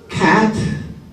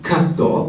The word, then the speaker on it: cat: So that you can pronounce cat, not katto, but ketto. Ket will do. Even if it's not cat, ket will be accepted. Whereas katto is no good.